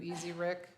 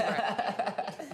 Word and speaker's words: Ezric: Whoever phonetically typed out your name, it looks like Easy Rick It does. but are you Easy Rick? No, Yes. Ezric.